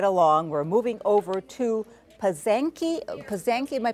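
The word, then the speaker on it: Pysanky: So moving right along, we're moving over to Pasanki, am I pronouncing that right? Pasanki.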